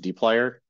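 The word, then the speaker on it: dplyr: this weird smash together string of letters is pronounced deer just learning that so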